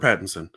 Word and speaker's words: Pattinson: Robert Pattinson.